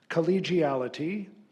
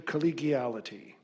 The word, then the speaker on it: collegiality: Collegiality, alternate pronunciation, collegiality.